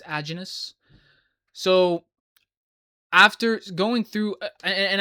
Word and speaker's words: Aajonus: That's another thing I've been mispronouncing his name. It's not a Jonas, it's agenous.